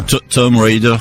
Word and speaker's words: Tomb Raider: Ou Tomb Raider, comme normalement il faudrait le prononcer, puisque le B est muet en anglais.